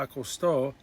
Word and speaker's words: acostó: ya, which is already, Mamá ya acostó, with the accent on the O, Mamá ya acostó a los niños.